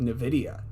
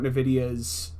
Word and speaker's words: Nvidia: to start off with Nvidia what did you think about nvidia's presentation um that's how you pronounce it I always said Nvidia but okay it is NVIDIA I'm I'm crazy oh